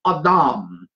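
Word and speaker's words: אדם: a.d I am but that's not how it's pronounced in the Hebrew it is the Hebrew word awdawm and abdomin mean the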